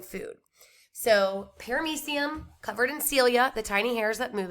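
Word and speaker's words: cilia: tiny hairs are called celia rhymes with amelia celia are tiny these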